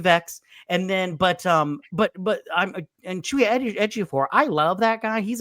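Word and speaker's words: Chiwetel Ejiofor: it Chewie Ejiofor?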